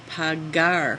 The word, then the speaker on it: pagar: e same problem though that e makes that g soft it sounds like P you're not trying to say that the original verb is pagar hard G all right so same